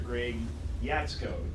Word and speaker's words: Greg Jaczko: Greg Jaczko.